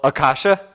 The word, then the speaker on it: Akasha: If you're Akashan or I'm going to butcher the name so many times. Oh, Akasha.